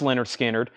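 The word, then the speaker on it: Lynyrd Skynyrd: gets Rush next is Leonard skinnard pronounced Leonard skinnard uh the cover has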